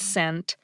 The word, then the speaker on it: scent: The short answer is that in words like science and scent, SC is pronounced like an S phoneme, or a unit of sound.